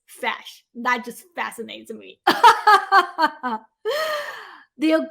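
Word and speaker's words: feis: application called fash yeah i know it spells like f-e-i-s but really pronounces fash that just fascinates me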